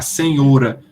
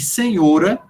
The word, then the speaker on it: senhora: século 20 é que senhora passou a ser pronunciada com o aberto e não fechado a arrumar é uma